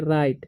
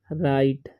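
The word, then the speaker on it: write: है अब य पर डब्लू आर आईटी है तो इसे हम पढ़ते हैं राइट ठीक है ड साइलेंट हो जाता है इस पढ़ेंगे हम राइट ठीक है रिटेन नहीं पढ़ना या टे नहीं ठीक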